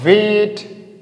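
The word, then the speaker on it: weight: यहाँ वेट, वेट, ठीक है, वेट यानी जीएस का हम प्रोनाउंसिएट नहीं करेंगे, ठीक है।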